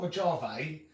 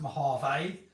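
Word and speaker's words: Mojave: it my harvey well the j is spelled with a hate so it's not my jave it's a it's to me it's pronounced my half a because it's spanish and j is a h i think is that right i think so i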